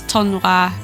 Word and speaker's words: tournoi: Yeah, I've been pronouncing tournament wrong in French. It's tournoi.